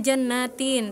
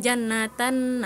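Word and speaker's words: جَنَّاتِ: Jadinya harusnya jannatin tapi Cantika membacanya Jannatan naim gitu.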